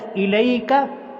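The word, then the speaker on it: إليك: اوپر مد ہے۔ الیک، کوئی حرف لمبا نہیں، اس کو مجہول نہیں پڑھنا، الیک یہ مجہول ہے، الیک نہیں اس کو پڑھنا بلکہ صحیح تلفظ کیا ہے، الیک۔ آگے آیاتن، حمزہ کے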